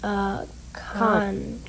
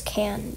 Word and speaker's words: Khan: So that's how you pronounce it. Khan. Khan. I thought it was Can.